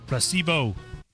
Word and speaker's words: placebo: The stress is on the middle. Placebo.